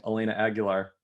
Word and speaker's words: Elena Aguilar: uh and youtubing to make sure that i was pronouncing elena aguilar correctly and then rai rightly pointed out that i could have just thought of christina aguilera and it would have been really easy but uh problem solved